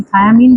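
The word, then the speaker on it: thiamine: थायामीन बोल रहा है। थायामीन का स्पेलिंग देख लो।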